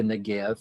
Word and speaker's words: Negev: eventually gets to the negev you see it translated with a b at the end which is typically pronounced with a v sound when you're pronouncing it